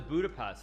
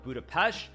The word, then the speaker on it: Budapest: don't want to offend, I will pronounce it correctly. It's called Budapest. There is the Buda side on one side of the Danube River, and the other side is Pest.